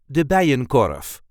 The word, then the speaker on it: de Bijenkorf: Dutch high-end department store, de Bijenkorf. This is the way we say de Bijenkorf. De Bijenkorf. There is a light emphasis on the first part of the second name.